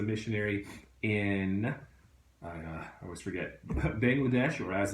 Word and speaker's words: Bangladesh: Berlin is a missionary in I always forget Bangladesh or as it's actually pronounced but bungle adesh I learned that from them by the way